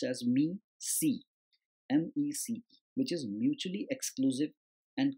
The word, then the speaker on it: MECE: It's pronounced as MEC, MECE, which is mutually exclusive and collectively exhaustive.